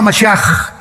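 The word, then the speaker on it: משיח: Se escribe Mashiach, Jesús el Mesías en el hebreo, pero se pronuncia la CH, Yeshua Mashiach, y siempre pronuncian dándole mucho énfasis a la palabra J en el hebreo.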